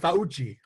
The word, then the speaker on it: Fauci: It's actually pronounced Fauci.